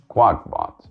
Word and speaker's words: QakBot: Because the Trojan is called QakBot, pronounced like quack, the sound a dog makes.